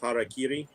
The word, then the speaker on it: harakiri: nerdy first of all it's pronounced harakiri because you know Shogun man I'm into it